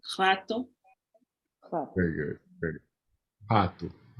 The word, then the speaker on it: Pato: Pato. Pato. Remember that O has a U sound. Pato.